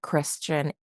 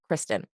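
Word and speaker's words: Criston: over to the greens that Christian or that Christen sorry I know his name is Kristen I just I don't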